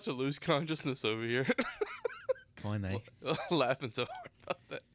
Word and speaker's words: Koine: I think it's pronounced koine, but I don't know that. Koine. Yes, just like that.